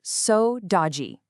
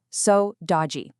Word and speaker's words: saudade: It's pronounced so dodgy. Go ahead, try saying it to yourself. So dodgy.